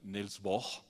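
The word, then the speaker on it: Niels Bohr: bor no O sea creo que en danés se pronuncia nels bor y de Einstein Entonces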